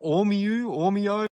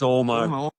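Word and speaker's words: Ormeau: Is that Ormeo? How do you say this? Call it what you want. It's Ormo.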